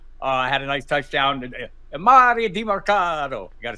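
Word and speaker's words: Demercado: Mario DiMarcado.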